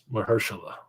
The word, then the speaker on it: Mahershala: Nigga, you said my name wrong. Like, how you doing, sir? That's Mr. Ali. Mahershala.